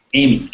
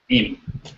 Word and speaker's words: Aimee: The third one I would quickly like to give a shout out to is Amy. I hope I pronounced that correct. It's spelled AIMEE, and it's Spanish, so I'm pronouncing it Amy.